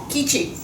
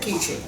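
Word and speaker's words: Keechi: I'm Ki, not Kchi, but Ki, and that's spelled K E E C H I.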